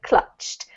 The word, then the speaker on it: clutched: one more time annoys clutched like clutch very good it has a teeth at the end okay clutched yes that's right if